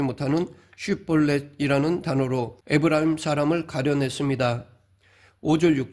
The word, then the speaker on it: 쉿볼렛: 그런데 그 과정에서 동족이다 보니 누가 어느 지파 사람인지 가리기 힘들기 때문에 에브라임 사람들이 발음하지 못하는 쉿볼렛이라는 단어로 에브라임 사람을 가려냈습니다.